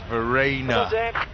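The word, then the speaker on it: Verreynne: of runs the Kyle Farina and yes I did find out how you say it I've been instructed his name is Verena come on boys and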